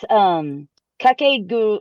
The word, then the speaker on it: Kakegurui: Nothing is going to show me how to pronounce it. So, but it's Kakegurui. It's Kakegurui.